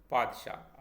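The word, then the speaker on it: پادشاه: बादाम इस अगला शब्द पादशाह जिसे हम बादशाह कहते हैं तो ये इस तरह से लिखा जाएगा पादशाह अगला शब्द तारीख देखिए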